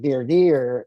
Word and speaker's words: voir dire: So, uh, as after voir dire, which is what we call it here, dire dire is how it's pronounced in on the East Coast.